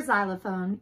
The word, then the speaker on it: xylophone: forgot to write the note x is for xylophone ladies extra on made him an exceptional xylophone